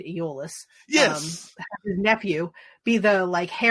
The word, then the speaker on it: Iolaus: Like, they did a good job of saying "so they say," and having they pronounced his name Iolaus, which is weird. I always say Aeolus.